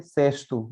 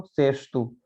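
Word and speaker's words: cesto: से और ए से, यहाँ पे देखिए सेस्तु, इसको हमें केस्तु नहीं पढ़ना है, या केस्तु भी नहीं पढ़ सकते हैं, तो सेस्तु, है ना। और खासकर बहुत बार अगर एस से पहले कोई वॉवेल आता है तो ये एस किस में बदल जाता है, एस एच में, तो हम इसको सेस्तो नहीं पढ़ते, इसको पढ़ते हैं सेस्तु, है ना।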